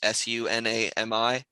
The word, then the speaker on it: Sunami: And there's one band called Tsunami, but it's spelled without the T. Like it's just Sunami.